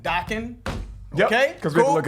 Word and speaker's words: Dokken: also we of course know was pronounced Dakin like rocking with Dakin okay cuz we all